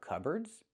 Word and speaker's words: cupboard: Pronunciation, it looks like cupboard, but it's not pronounced that way. It's pronounced cupboard. So, the P is silent. Cub cub erd. Use the er sound like burger. Er er.